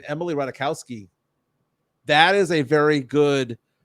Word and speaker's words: Ratajkowski: Oh, Chris Gonzalez saying Emily Ratajkowski. That is a very good 2 seed potential. Emily Ratajkowski is amazing, dude.